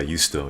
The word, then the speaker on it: juusto: Wait, Rashawn, you say Juusto? Yeah, Juusto. Yeah. Yes. Yes. I think that's how you say it in Finnish. You know, you say the J as, you know, like there's a NHL player named UC Jokinen.